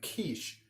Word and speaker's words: quiche: I'm like, well, that's not going to help because I'm like, it's not spelled like it sounds. It's Quiche.